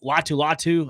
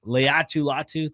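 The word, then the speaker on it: Laiatu Latu: I mean, you have uh you have Latu Latu, I believe I'm pronouncing this Leu Latu. Leatu Latu, thank you very much.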